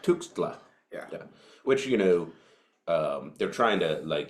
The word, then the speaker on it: Tuxtla: So I was gonna say, can you pronounce that word right there? Hold on. That one. Andres Tuxtla? Yeah. Yeah, it's Tuxtla. Tuxtla.